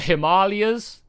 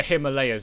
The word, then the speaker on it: Himalayas: This part, the Himalayas, like lay us. Like 90, just about everybody that I know calls it the Himalayas, and like you just